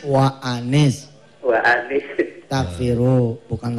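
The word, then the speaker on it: وَأَنِ: Itu bukan wa inis, wa anis.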